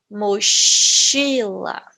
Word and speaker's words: mochila: fica certo o sol deste fonema é por exemplo eu vou falar chuva achar mochila cachorro certo é o mesmo fonema que vocês utiliza porém nós temos outro